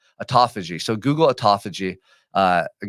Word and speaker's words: autophagy: damaged cells first it's called Uh I always mispronounce this name aagi autophagy autophagy so Google autophagy uh the guy won a